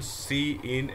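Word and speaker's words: cin: So next we are having question number 124, the function C in and C out, don't read it as sin and scout, it's not the correct pronunciation।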